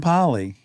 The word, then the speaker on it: Pally: Adam Pally. Adam Pally. Adam Pally is a pal of mine. Yeah. And that's why I always pronounce the Al.